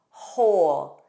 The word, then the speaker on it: whole: Also WH spelling in the words who, whom, whose, whole. Notice there's no W. It begins on H.